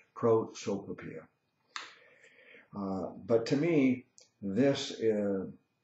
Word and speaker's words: prosopopeia: It's like a tongue twister for me, but finally I've got it down and I know how to pronounce it correctly, prosopopeia.